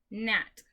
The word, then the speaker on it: gnat: Right is spelled W-R-I-T-E. Number 3, gnat.